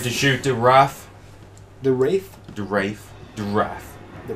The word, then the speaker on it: Wraith: Wrath. No, Wraith. Wraith. It is Wraith.